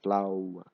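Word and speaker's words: flauw: is UN FL FL you have to make your mouth round and say flow flow a b flow and if you're eating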